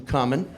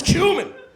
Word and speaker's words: cumin: Some 'come-in.'" And right away, like clockwork, "Seriously? Don't fucking say that to me again. "It's cumin.